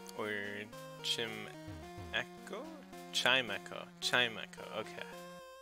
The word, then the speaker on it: Chimecho: about one minute all right now team echo team echo okay sorry for pronouncing it wrong all right maybe that guy paralyzed heel nice or Jim echo Chimecho Chimecho okay yeah I don't that doesn't